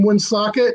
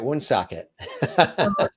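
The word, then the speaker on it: Woonsocket: island we lived in one socket in the northern end right on the massachusetts border and that's how you say it wound socket that's how you say it yeah right it was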